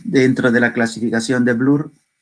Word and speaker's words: Bloor: Hay otra parte dentro de la clasificación de Blur o de Bloor, si se escribe como B-L-O-O-R, los lípidos neutros, que no tienen carga eléctrica, y están los acilgliceroles y el colesterol.